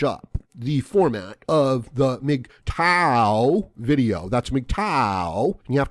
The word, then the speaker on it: MGTOW: have to change up the format of the mig tau video that's mgtow you have to kind of